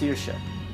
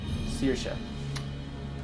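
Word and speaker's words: Saoirse: Means freedom in Gaelic. Pronounced Searsha. Searsha.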